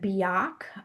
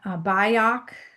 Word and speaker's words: Byock: Ira, I believe you pronounce it Biak, Biak, like be ready, be organized, whatever it was.